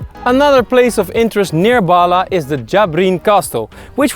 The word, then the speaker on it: Bahla: I would pronounce it Bahla, but in Arab it would have to be something like Bahla.